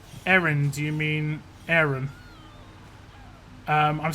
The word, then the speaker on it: Aaron: Aaron or Aaron? Like, Americans pronounce it as if there's an I in there.